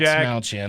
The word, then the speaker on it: Dastmalchian: Dastmalchian, that's how you say it.